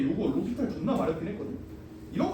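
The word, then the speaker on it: L'Hôpital: 로피탈이 사람 이름이야. 근데 L 호스피탈 이지라야. L 병원. 로피탈. S는 묵음입니다.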